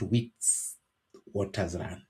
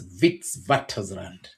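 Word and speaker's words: Witwatersrand: when you speak it you change the letter W to V to letter V you write it as a W but while reading it or while speaking it the letter W in pronunciation changes to V so it's wits waters land as we would say but it's not wits waters land it's vitz vatland uh so um they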